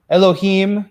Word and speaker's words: Elohim: s for us and it's pronounced IM like cherubim and Ne Nephilim Elohim you know yeah yeah